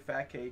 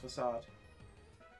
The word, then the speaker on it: Facade: You don't have a Pokemon with the move Fat K, do you? Facade. I think it's actually pronounced Facade. F-A-C-A-D-E.